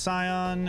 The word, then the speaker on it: Scion: VOD uh it's pronounced Scion and the only reason that it is in my username is because it is a loose rhyme for the S that's